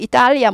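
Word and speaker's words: Italy: 이탈리아에 가면 그나라 말로는 이리아 뭐 이렇게 되는 거 같아요 그런데 영어로는 it 이렇게 써요 이렇게 쓰고 발음은 이탈리 하지 않고 이리 약화 돼요 약화 이탈리에서 이리 이리로 약화돼 이리 it 그러니까 우리가 어떻게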